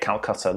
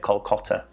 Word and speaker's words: Kolkata: Calcutta. That's how they say it. We say it Calcutta, they say it Kolkata.